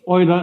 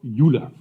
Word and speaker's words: Euler: It's Oiler not uler or something.